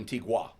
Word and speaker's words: Antigua: or is it Antigua? Antigua. Antigua. Well, it's spelled Antigua, but they say the locals say Yeah, Antigua.